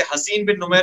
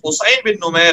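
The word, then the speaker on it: حصین بن نمیر: اور بعض لوگ اسے حسین بن نمیر پڑھتے ہیں، اصل میں اس کا تلفظ حسین بن نمیر ہے۔ حسین بن نمیر، یہ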